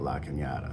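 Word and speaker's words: La Cañada: it until they till the little squiggly line above the end which means this neighborhood's so fancy it says Canada and they pronounce it La Canada so I don't know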